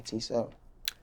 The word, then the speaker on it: T7: your stage name t7 the regular letter T and number seven t7 do people mispronounce this